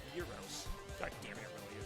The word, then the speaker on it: gyros: Sometimes the Greek is Gyros pronounced like Euro. The Greek thing is pronounced Euros.